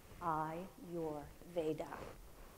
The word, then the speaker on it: Ayurveda: do you pronounce that I tell people from my eyes to your heart I your Veda the vedics were ancient